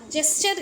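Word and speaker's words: gesture: तो इसे कहा जाता है गेस्चर। गेस्चर भी कहते हैं कुछ लोग। कुछ लोग गेस्चर पढ़ते हैं। फिलहाल जेस्चर इसको सही प्रोनाउंसिएशन कहा जाएगा।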